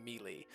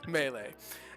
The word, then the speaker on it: Melee: Melee. I have to say it wrong the first time. Melee.